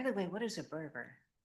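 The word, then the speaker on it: Berger: By the way, what is a burger? Oh, it's it's a it was a kit house. It's spelled unlike anybody thinks it. B E R ge r.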